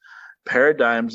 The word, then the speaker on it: paradigms: and barrage of jokes paradigms of human memory it reminded me of just why i'm so happy we've had this season of this show all right oh so okay so the g is silent and there we go